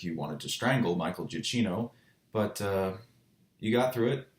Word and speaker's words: Giacchino: And since it is, of course, composed by one of my favorite movie composers, Michael Giacchino, I think that is actually how you literally pronounce his name, I have to, of course, gush about the music.